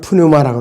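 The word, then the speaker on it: πνεῦμα: 그 다음에 영이라는 존재, 스피릿이 헬라어 발음은 푸뉴마라고 그러고 히브리어 발음은 루아흐라고 발음합니다.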